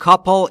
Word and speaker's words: couple: Good couple یعنی زوج خوب. Couple تلفظش رو دقت بکنید. Couple نیست. Couple. Couple. Pull. Pull. Pull. مثل people.